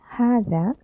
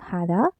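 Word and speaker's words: هذا: shall we learn about the pronunciation okay is pronounced had but it is written without the first al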